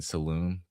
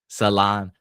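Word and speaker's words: Salaün: I know I've been saying Saloon. Thank you for correcting me. Um Salan I I am Mr.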